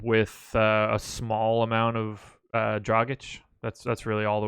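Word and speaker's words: Dragić: my god I'm trying to say it correctly draaga CH then I'm totally okay with that if on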